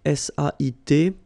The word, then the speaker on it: sait: Okay, so if you look carefully here, you write it S-A-I-S, well, the same way here. Here you write it S-A-I-T, okay, but then phonetically these three forms are the same, and it's c'est, okay?